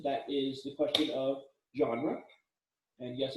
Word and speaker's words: genre: is the question of genre and yes it's a weird french pronunciation genre which is sometimes irritating